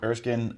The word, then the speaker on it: Erskine: Erskine I just discovered. Am I even pronouncing that right? Yeah. Erskine.